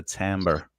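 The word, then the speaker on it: timbre: texture the texture of your voice is a tamber so how I sound is my every day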